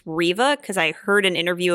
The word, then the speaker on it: Reva: that new inquisitor who i think you pronounce the name as reeva i don't think it's reva i think it's riva because i heard an